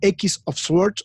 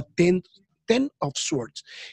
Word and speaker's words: X of Swords: Que es bueno, seguramente alguno que lo lea mal dirá que es X of Swords o X of Swords, pero ya la pronunciación está confirmada que se llama Ten of Swords, que arranca con un